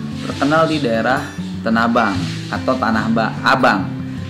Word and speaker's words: Tanah Abang: Dan memang untuk Sabeni sendiri terkenal di daerah Tanabang atau Tanah Abang. Orang panggil sekarang Tanah Abang, tapi orang asli sendiri bilangnya Tanabang. Ya. baik itu Tanah Abang ataupun Tanah Abang, dia sama.